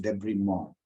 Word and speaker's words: debridement: call it okay debridement is supposed to be pronounced Debris Mall all right okay Ram Krishna anything to add